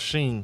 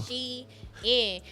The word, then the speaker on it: Shein: people pronounce Sheen. Yeah, so but Shein did a whole thing, and they said, y'all, it's literally They pronounced corrected people? Shein.